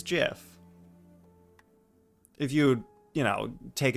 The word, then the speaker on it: GIF: on pure logic and the most logical pronunciation for that word is jif if you you know